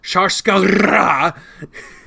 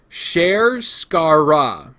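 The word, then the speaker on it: Sharskarra: I had been jokingly calling it Sharskara, but here's how it's actually supposed to be said. Sherskara. Sherskara. Not Shar, Share.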